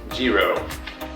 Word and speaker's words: Giro: Giro helmet, pronounced Giro. At least that's what I've read.